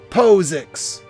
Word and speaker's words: POSIX: all caps you want to use the harder syllables so it's posix posix post six it's posix not posix that's